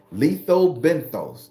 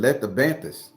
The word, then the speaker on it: lethobenthos: right letho benthos I had to learn how to say it cuz I was saying I was going to say I was saying let the bantis and you know that